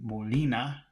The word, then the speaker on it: Molina: Molina Molina Molina uh an English speaker would probably want to say Molina Molina those sounds would be the same M Lina uh in English speaker would pronounce those two letters the same and they're both wrong because it's Mo na not na Naina morina morina morina